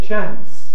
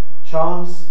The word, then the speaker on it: chance: the north of England, most people use a short vowel, the same vowel as cat, and say chance. It's not qualitatively quite the same as American English. Americans say chance. In the north of England, people say chance. But it's the same vowel as cat and the animal for those who use this pronunciation. As against chance in the south of England and in received pronunciation, which is different.